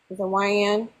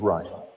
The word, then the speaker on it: Ryan: Did I say it right? The Yan. Sorry, I couldn't unmute myself. Ryan, it's just Ryan.